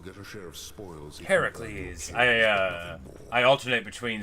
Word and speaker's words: Heracles: Well, we want Hercules to let us better here. I'm gonna keep on saying his name wrong. You'll get a share of spoils. Heracles.